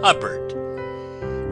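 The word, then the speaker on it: Hubbard: this is wonderful game huh bird name that always rhymes with cupboard ever going out to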